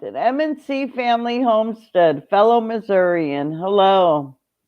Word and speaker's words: Missouri: i really liked it mnc family homestead fellow missourian hello it's missouri if you don't say missouri here they know you're ferner that's for sure